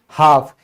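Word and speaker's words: half: फिर है आधा यानी कि हाफ, इसमें क्या है, एल से पहले ए आ गया तो ये भी क्या हो गया, साइलेंट हो गया।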